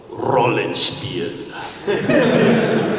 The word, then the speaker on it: Rollenspiel: In German, they have an awesome name for it, Rollenspiel. You gotta say it like something out of Rammstein.